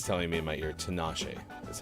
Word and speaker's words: Tinashe: series uh Siri's telling me in my ear Tinashe is how I should pronounce that so there you go happy 30th birthday Tinashe uh let's see birthdays stay in gaming history